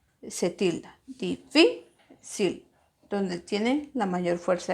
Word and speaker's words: difícil: Luego tenemos la palabra difícil. Separamos difícil. ¿Dónde está la mayor fuerza de voz? En la sílaba que está tildada.